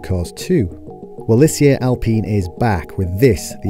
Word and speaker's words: Alpine: pronounce that name Alpine no it's Alpine not Alpine not Alpine Alpine we call it Alpine but we respect it if the British want to call it Alpine it's been 25 years